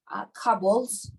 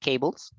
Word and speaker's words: cables: but little machine and they have like uh cobbles cables couples okay the pronunciation is a little different cables cables or wires cables okay sorry okay a